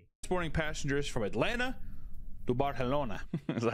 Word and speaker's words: Barcelona: But in it's Barcelona. Barcelona. Like the C is a TH, right?